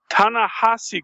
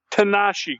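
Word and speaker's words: Ta-Nehisi: Marvel Roundup last week uh Tana hasi coats not Tanashi coats I consistently mispronounced tanahasi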